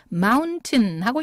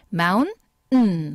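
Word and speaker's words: mountain: 티가 깨갱하고 소리가 사라져요 그래서 마운틴하고 읽으셔도 틀린 발음은 아니지만 습관상 미국 사람들의 발음 습관상 이렇게 n이 가까이에 있을 때는 마운음 하고 이렇게 코로 소리가 나온다는 거죠 해 보실게요 그러니까 우리가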